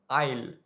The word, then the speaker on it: aisle: इसका स्पेलिंग है AISLE, लेकिन इसमें S साइलेंट होता है और इसका प्रोनाउंसिएशन होता है आइल।